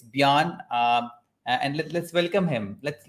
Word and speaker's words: Björn: It's Björn, or it's a Scandinavian name, so it's Björn. But most of the countries don't pronounce the Ö.